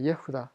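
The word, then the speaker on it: יהודה: 예후다.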